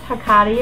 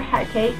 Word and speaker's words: Hecate: I also work with Hecate or Hecate, depending on how you want to say her name.